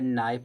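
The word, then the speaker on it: knife: जैसे अगर नाइफ दिया गया नाइफ में के साइलेंट होता है।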